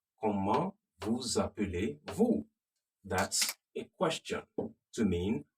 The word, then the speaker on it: Comment vous appelez-vous: Comment vous appelez-vous? Comment, remember, the T is silent.